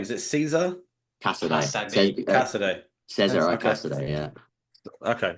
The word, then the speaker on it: Casadei: How do you pronounce his name? Is it Caesar? Casadei. Casadei.